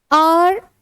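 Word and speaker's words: hour: चलिए आप इसमें भरेंगे आर बिफोर। क्या आर्टिकल आएगा इसमें? यहां पर एच साइलेंट है।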